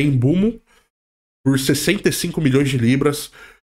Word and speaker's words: Mbeumo: Teve um Mbeumo, só que a pronúncia certa é Embumo, por 65 milhões de libras.